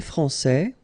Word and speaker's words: français: Okay, so français, here you get this final S that you don't pronounce, so français, and then when you put this final E here, you will get française.